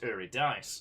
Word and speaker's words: Eurydice: what to say i i uh firstly it's pronounced uridis secondly you should probably read it take all